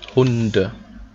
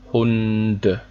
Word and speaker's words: Hunde: But if there's something behind, you pronounce it normal, okay?